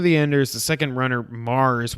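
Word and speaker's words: M∀RS: Zone of the Enders, speaking of Hideo Kojima, Zone of the Enders, the second runner, Mars, which is spelled MVRS, which is extremely confusing, is coming out on PS4, PC, and VR in 2018.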